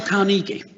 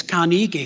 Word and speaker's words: Carnegie: spelling of his name it's actually ey at the end but because he thought well it's pronounced the same as Carnegie who does all the